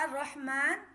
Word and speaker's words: الرحمن: را۔ یہاں را کا الرحمن یعنی الرحمن، یہاں بھی لام ہے، لام پڑھا نہیں جائے گا، لام خاموش رہے گا، الف کو را سے ملائیں گے۔ اس کی ہجے